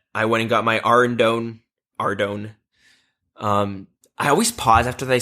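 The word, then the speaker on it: Ardougne: my rogue set, I went and got my Ardone. I always pause after they say that because for like 10 years, do you want to know how I pronounced Ardone? How? Ardragon.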